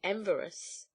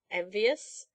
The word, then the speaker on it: envious: When he saw how rich Hans was getting to be, he became very enverous." "Very what?" "Enverous. He didn't like it, you know." "Don't you mean envious?"